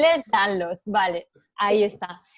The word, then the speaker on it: Ehlers-Danlos: a concienciar sobre este síndrome, que es ah, Ehlers-Danlos. Ehlers-Danlos, vale, ahí Sí.